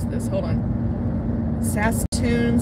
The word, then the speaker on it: Saskatoon: Daryl says hi from, let me see if I can pronounce this, hold on. Saskatoon, Saskatchewan?